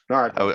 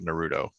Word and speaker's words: Naruto: Naruto. I always in my head it was always Naruto, but it's Japanese. The Japanese language doesn't really have an R sound.